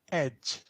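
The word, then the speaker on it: egy: And then we only have one word for a or an, which is pronounced ed.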